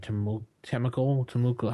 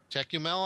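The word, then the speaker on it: Tékumel: never pronounced this right, Temukel, how's that pronounced, Nick? T-E-K-U-M-E-L. Tecumel, I think it's pronounced.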